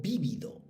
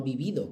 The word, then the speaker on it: vívido: Aquel recuerdo, en toda su inmediatez, me vino a la mente de un modo vívido. Vívido, no vivido, que lleva tilde.